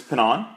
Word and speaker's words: Pannone: So your Twitter handle is Louis Pinon. But again, how you spell it would be LouiPannone.